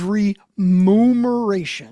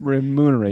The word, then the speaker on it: remuneration: But then it says when to use remmeration. Remuneration.